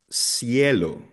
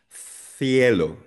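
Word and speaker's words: cielo: Pero pag nasa Espanya ka, they would pronounce this like thelo.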